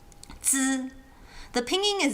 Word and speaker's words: zi: It's not just zzz, it's zzz, like with a D-ish sound at the beginning. Zi.